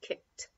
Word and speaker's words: kicked: she didn't spill it and it says very often it's those teeth the T sound so here he kicked he kicked the ball we don't say kicked it which is often our inclination because we see the Edie here it's just a T sound kicked kicked he kicked